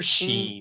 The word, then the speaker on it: Shein: Is it Shein or Sheen? Sheen? I guess it depends Shine? on who you are. No, it's not Shine.